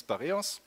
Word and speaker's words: Bareos: archiving recovery open sourced so some pronounce it b r or s but that's not the way it's not operating system the u.s. stands for open source or the name is barrios and it's said before